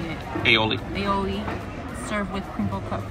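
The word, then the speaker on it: aioli: cheeseburger with pepper jack Chili Peppers arugula spicy aoli that's how you say it aoli aoli served with crinkle cut fries so smells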